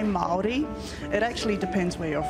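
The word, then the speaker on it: Māori: right Mal um that is a really good pronunciation um we say Mali it actually depends where you're from like what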